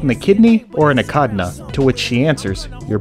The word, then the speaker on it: echidna: a kidney no and a kidney is a part of the body it's pronounced akadna no he says a kidney I heard it last night no he says akadna you know what why